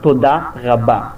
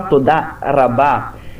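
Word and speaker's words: תודה רבה: Vamos pegar, por exemplo, a palavra Todá Rabá. Todá Rabá significa muito obrigado. Se você pronunciar Todá Rabá, se você falar com R de português, som de R, você é capaz de não ser entendido, porque um israelense iria associar som de R com rei, que é outra letra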